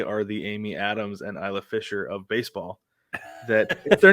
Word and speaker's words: Isla Fisher: feel like they are the Amy Adams and Isla Fisher of baseball that if they're not standing next to each other they look a lot alike right yeah it's Isla it's Isla Fisher get out of here get out of here